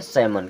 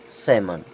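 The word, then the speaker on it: salmon: L silent हो जाएगा क्या हो जाएगा एल साइलेंट अब इसे पढ़ते हैं सैमन क्या पढ़ते हैं सैमन यहां पे एल हमारा साइलेंट रहे क्योंकि ए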